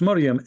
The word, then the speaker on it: Maryam: And he pronounced Maryam exactly as the Old Testament recited.